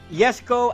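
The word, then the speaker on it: Koenigsegg: To tactician XD9 to answer that, it is Koigseg Yesco. Yesco as far as how the Swedish would be pronouncing it.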